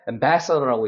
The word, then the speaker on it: ambassador: 그러니까, 규칙이라는 건 항상 고정된 게 아니기 때문에 영어 공부를 할 때, 어떻게 발음이 나는지를 조금 더 주의해서 읽을 필요가 있는 거죠. 자, 그래서 여기가 강세가 있기 때문에 ambassador라고 있는 겁니다.